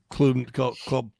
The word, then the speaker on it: Klubnik: But I want to kind of get a look at Klubnik.